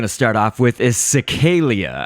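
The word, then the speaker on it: Cecaelia: So this source object that we're going to start off with is Cecalia, I believe is how you would pronounce that.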